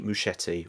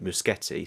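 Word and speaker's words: Muschietti: was directed by Andy muschetti or other people would pronounce his surname muskete so I'm hoping one of them is correct director of the remake of it from 2017 and it chapter 2 from 2019.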